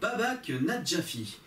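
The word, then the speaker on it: Babak Najafi: de Londres, sortie en 2016 et réalisée par Babak Nadjafi. Et oui, je l'ai bien prononcé.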